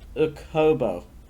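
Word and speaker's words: Okubo: who's voiced by Rumi Ukobo. Again, it's hard to pronounce because it's a double O, so it's like a long O sound, I think.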